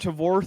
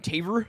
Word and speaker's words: Tavor: It's not Tavor, thank you very much. It's fucking Taver.